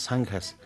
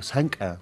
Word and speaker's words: zanca: Por ejemplo, las más grandes, conocidas como hoy en día decimos las zanjas, pero en realidad estas en aymara se pronuncia zanca, no es zanja.